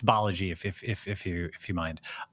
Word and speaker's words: Balaji: So can you please tell everyone how to pronounce your name correctly? Sure, it's Balaji, but a lot of people, whatever, if you'll